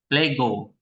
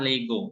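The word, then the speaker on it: λέγω: Oke Coba tulis transiterasinya lambda berarti l epsilon e Ya kan e-nya e pendek right GMA G Omega o panjang berarti Bacanya apa Lego Lego apa leg Lego bukan Lego sepak bola ya Lego apa Lego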